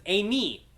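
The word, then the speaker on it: εἰμί: So it's Amy. So it's the epsilon iota says A, and then the iota is at the end there, so it says E. So it's Amy.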